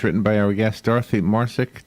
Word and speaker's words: Marcic: by our guest Dorothy MARSOC Dorothy am i pronouncing your last name correctly yes you are perfect it's a true crime